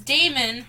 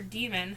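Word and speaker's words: Daimon: And the last one I read was Damon, or Demon, however you want to pronounce that.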